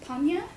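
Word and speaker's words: prajñā: Sanskrit in origin, it's actually pronounced panya, and it refers to the wisdom that is necessary for one to attain enlightenment.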